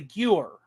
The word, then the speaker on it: Gewehr: Gawer? Gawer. How do you pronounce that? It's a Gewehr K98. Gewehr.